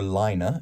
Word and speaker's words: Laine: Torsti Laine, or Laine, as it's pronounced correctly in Finnish, is a manufacturer of very simple and beautiful watches.